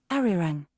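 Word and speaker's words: Arirang: Ari Rang.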